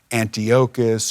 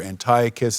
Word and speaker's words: Antiochus: The Jewish people were under the tyranny of this evil king by the name of Antiochus, or Antiochus is another way to pronounce it.